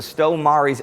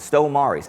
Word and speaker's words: Stow Maries: Now today, we're at the Stow Maries Aerodrome in Essex, in England. And that's how the locals pronounce it, Stow Maries.